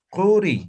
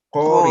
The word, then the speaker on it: Qori: Entonces, la pronunciación no vamos a decir Quri, sino vamos a decir Qori.